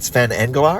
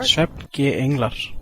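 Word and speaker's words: Svefn-g-englar: Insert the correct Icelandic pronunciation. Song 2, is that Sven Englar? Svefnge Englar.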